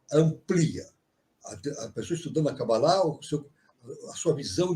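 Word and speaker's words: קבלה: agora é claro que a Cabala é a cabalá né como se fala em hebraico né a cabalá é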